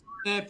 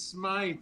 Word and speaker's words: Smythe: It's not Smith, it's Smythe, and it's like, okay.